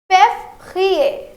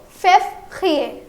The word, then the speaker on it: février: It is pronounced as février. Let's try to pronounce it again. I know it's a bit hard. Okay. So février. Février. Amazing.